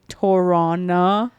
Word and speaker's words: Tirana: It's like you pronounce it with the CH. No, we don't. No. No, it's definitely Tirana, Not You know.